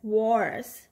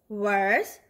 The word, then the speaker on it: worse: are good for soil now we have the word wa or wars but it is actually worse or worse what could be worse